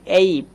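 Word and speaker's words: ape: তো এখানে আমরা আবারও যদি একটু লক্ষ্য করি, এ লেটারকে আমরা উচ্চারণ করছি এই এর মতোই।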